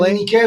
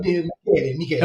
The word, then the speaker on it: Michele: It's not an SH sound. It's a hard K. Michele. Michele is Italian. Michelle, do you say it, Michelle? Yes. It's more French. No, Michele.